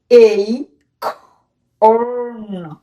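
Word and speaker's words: acorn: সো আমরা দেখতে পাচ্ছি এটির উচ্চারণ তো এখন কি হবে, কারণ এটি প্যাটার্ন মেনটেন করেছে, ভি সি ভি মেনটেন করেছে, তার মানে কি করতে হবে? এই খর্ন, এই খর্ন, এটি উচ্চারণ কি হবে? এই খর্ন, এই খর্ন, এই খর্ন। মনে রাখবে বাংলাদেশের অধিকাংশ মানুষ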